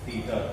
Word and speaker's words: theta: Pronounced as theta, Theta, theta or theta.